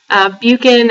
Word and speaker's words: Buchan: So our name is Buchan Baby. Buchan as in pukin, Buchan Baby.